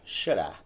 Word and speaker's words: Xara: But it's Xara in Portuguese.